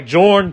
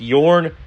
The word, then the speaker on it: Jorn: We now have Lord Shank tempting fate with his satellite team Union Racing led by Jorn, just Jorn. Actually technically it's pronounced Yorn, but in Lord Shank's